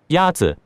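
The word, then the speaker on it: 鸭子: Is it Yazi? Yazi is pronounced with a first tone.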